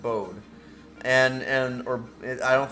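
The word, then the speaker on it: Bode: that's the bold museum it's b-o-d-e i think it's pronounced bowed and and or i don't think it's booty i think it's bowed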